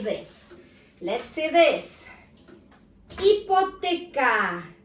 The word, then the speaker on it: hipoteca: Hipoteca. As I told you before, H is silent.